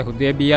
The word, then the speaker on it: حدیبیہ: سورہ فتح صلح حدیبہ کے بعد نازل ہوئی۔ تلفظ تھوڑا صحیح کیجیے گا۔ صلح حدیبیہ کے بعد نازل ہوئی۔